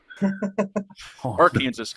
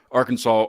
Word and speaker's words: Arkansas: wondering why why people why we pronounced Kansas like Kansas but then Arkansas Arkansas and I was like